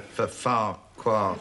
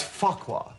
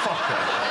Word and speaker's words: Farquhar: Farquhar. No. It's Farquhar. There are two F's, but it's pronounced Farquhar.